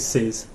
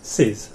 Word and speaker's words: þið: And you rhymes with it, if that helps. Vid. Yeah, thith.